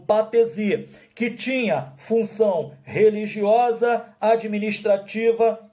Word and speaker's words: patesi: Isso aí, P-A-T-E-S-I, patesi, ou patese, né? Se escreve patesi, mas você pode ouvir alguém falar patese e ficar aí meio confuso.